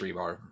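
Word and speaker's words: Rybár: right rebar yeah rybar spelled rybar but pronounced rebar okay yeah he was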